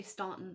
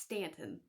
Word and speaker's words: Staunton: stanton mall in virginia i know people say staunton it's actually pronounced stanton stanton virginia so for